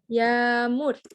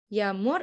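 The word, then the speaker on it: yağmur: Tetap dibaca. Contoh seperti yamur. Yumusyagge setelahnya mur. Dibacanya yamur. Yamur artinya hujan.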